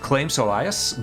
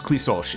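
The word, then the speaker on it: Claimh Solais: Yeah, I mean it's strange because the way it's spelled, it looks like Claim Solias, but it's Clissolch. It's Gaelic.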